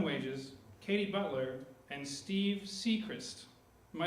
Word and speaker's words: Seacrist: The Soggy Bobbin Boys comprise of Bobbin Wages, Katie Butler, and Steve Seacrist. Am I saying that correctly, Steve? Yes, you got it. Steve Seacrist! I pronounced his name correctly.